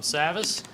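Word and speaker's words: Savvas: thank you Ryan and you actually uh pronounced it correct Savage Travis think of it that way but I'm ty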